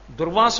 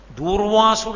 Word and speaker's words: దుర్వాసో: మీరు కొంచెం జాగ్రత్తగా చూస్తే దుర్వాసుడు అంటారు తప్పు అసలు అది ఉచ్చారణ దోషం దుర్వాసో మహర్షి ఆయన పేరు దుర్వాసో మహర్షి క్రోధ భట్టారక అందుకే ఆర్య